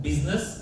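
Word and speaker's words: business: People you means people I हा silent आहे. बिझनेस आयचा प्रोनन्सिएशन ऑल सायलेंट आहे मी सायलेंट आहे माझा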